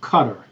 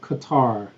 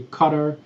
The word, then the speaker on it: Qatar: That is pronounced Qatar, not Qatar. Americans pronounce it Qatar, but it's actually Qatar, and the capital is Doha.